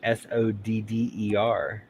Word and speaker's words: solder: But yeah, why not just call it solder, like SODDER?